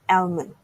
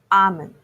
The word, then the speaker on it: almond: Another nutritious food, commonly mispronounced as almond. The correct pronunciation has L silent. It's almond. A common favorite among Japanese